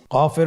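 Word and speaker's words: كاف: নম্বর হরফটির নাম কাফ কাফ উচ্চারণের ক্ষেত্রে অবশ্যই পাতলা করে উচ্চারণ করতে হবে এবং তিন আলিফ টেনে পড়তে হবে।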